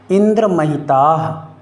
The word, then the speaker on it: इंद्र महिता: वैसे ही यहाँ पर जो आपको शब्द दिख रहा है इंद्र महिता, इसको आपको बड़ी ही तेज़ी से जोर दे के बोलना है। इंद्र महिता, इंद्र महिता, ऐसा शब्द